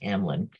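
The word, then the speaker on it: Hameln: fountain grass Hamlin and it is spelled like that I kept wanting to call it and meln which was so hard to say and somebody said no it's Hamlin um and it's a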